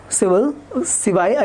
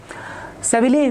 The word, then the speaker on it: Seville: Shown below is a tiled floor in the Archaeological Museum of Civil, I don't know how to pronounce it. Okay, Civili or Civil, okay. Seville, we call it Seville, okay, made using squares, triangles and hexagons.